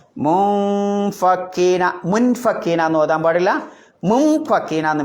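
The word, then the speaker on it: مُنفَكِّينَ: പറ്റിയത് അതാണ് എങ്ങനെയാ ഓതേണ്ടത് മുൻ ഫക്കീന എന്നോ ആ മുൻ ഫക്കീന മുൻ ഫക്കീന മുൻ എന്നാണോ പറയുന്നത് മുൻ എന്നാണോ പറയുന്നത് രണ്ടിന്റെയും ഇടയിലുള്ള ഒരു ഉച്ചാരണം മുൻ എന്ന് മീം ആക്കി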